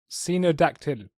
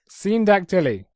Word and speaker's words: syndactyly: schizophrenic woman and a deformed little person with senodactyly. Okay, you gotta be able to pronounce the word, because otherwise I don't know what... Syndactyly.